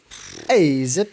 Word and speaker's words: Azzip: Azzip, that's exactly how you pronounce it.